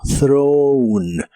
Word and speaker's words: thrown: En el pasado particip, es similar a la forma del presente, pero aquí termina con una n y se pronuncia como throne. Throne.